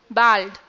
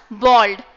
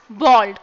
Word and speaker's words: bald: Bald. No guys, that's the wrong pronunciation. It is pronounced as bald. There's no a sound in this. Okay, so we pronounce it as bald.